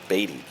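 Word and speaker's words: Baty: and one to Brett batty I know his name is pronounced batty but I mean come on you looking for baddy he's baddy I mean come on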